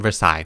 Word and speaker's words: Versailles: I literally had to watch a YouTube video on how to pronounce it, Versailles.